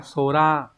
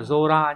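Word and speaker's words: 空: từ của A cự còn có cái đọc là Sora Sora là bầu trời và biến âm là zora nhá ví dụ ghép vào ấy thông thường những cái từ ghép âm cư âm cư với nhau sẽ đọc là zora ví dụ Các bạn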